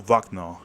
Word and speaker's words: Wagner: got the biggest contract, it was the Wagner, sorry, or Wagner, if you pronounce it the way they pronounce it in English.